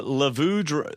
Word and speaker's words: Levu: stupid tribe names now Levu rhymes with blue so code does not